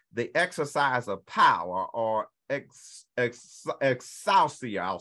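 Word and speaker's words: ἐξουσία: Authority in the Greek means the exercise of power, or exousia, I'll spell it, E-X-O-U-C-I-A.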